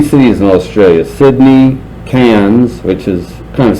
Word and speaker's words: Cairns: So we went to Australia, visited 3 cities in Australia: Sydney, Cairns, which is kind of spelled like Carnes, but they pronounce it Cairns, and Darwin, which, yes, was named after Charles Darwin.